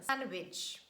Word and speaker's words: sandwich: edge fridge judge bridge letter d is also silent in the middle of words when it's preceded by letter n sandwich handsome handkerchief but please make